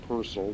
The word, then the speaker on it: Purcell: the work of a composer named henry purcell p-u-r-c-e-l-l and it is pronounced personal not purcell percel was an english composer during